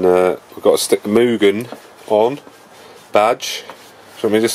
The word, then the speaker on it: Mugen: I think it's pronounced Mugen. As in like a cow. Mugen. So not Mugen. What does a cow do? Mugen. Mugen. So it's not Mew. I think it's Moo.